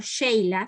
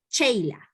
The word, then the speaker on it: Sheila: decir un nombre no nos dicen por ejemplo sheila sí no cheila no entonces éste cuán importante